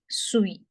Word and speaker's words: suis: Je suis. Je suis. Je suis. Again, rule. The sound of UI is V. Je suis. And as a rule, the last letter is not pronounced. SUI is suis.